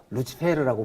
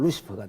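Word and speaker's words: Lucifer: 그 성경을 라틴어로 번역한 히에로니무스 제롬이라는 사람이 그걸 갖다가 루치페르라고 번역을 했습니다. 라틴어로. 루치페르라고 번역을 했는데 그러니까 계명성이라는 말이 루치페르라고 번역했거든요. 헬렐을. 그러니까 이 루치페르라는 스펠링을 그대로 써놔놓고 영어로 읽으면 루시퍼가 되거든요.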